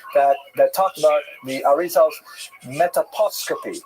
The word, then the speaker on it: metaposcopy: talked about the Arizal's metaposcopy. I had to look up how to pronounce that. Apparently it doesn't rhyme with anything, but I looked up all kinds of rhyming anyways. Metaposcopy is the technical term for reading the face.